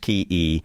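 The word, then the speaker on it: cay: K, pronounced Key, is a small Caribbean island on the surface of a coral reef.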